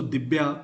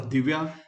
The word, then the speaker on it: Divya: So Dibya or Divya, because many of the words you'll find that rather than using va, they usually prefer to use b. So Divya, what we pronounce, usually the Bengalis prefer to call it as Dibya.